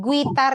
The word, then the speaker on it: guitar: Guitar itu bacanya guitar. Guitar. Yes. Biasa aja. Guitar. Jadi un-nya enggak di enggak dipronounce un-nya silent u.